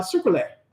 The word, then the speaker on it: Sucrule: pronounce this guy uh sucette so like sugar sucra and uh oule as in Brule like you know like put it on fire or something yeah Kentucky